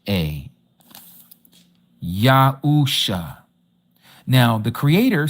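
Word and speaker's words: Yahusha: And so the name of the Messiah, if we were to spell it into English, ENL it would be Y A H U S H A Yausha.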